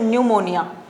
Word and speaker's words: pneumonia: P is silent here, you will pronounce it pneumonia.